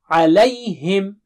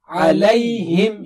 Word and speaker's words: عَلَيْهِمْ: Alayhim, alayhim, alayhim, alayhim. You don't say alayhim, huh? Alay.